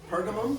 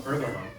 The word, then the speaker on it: Pergamum: Pergamum. Pergamum.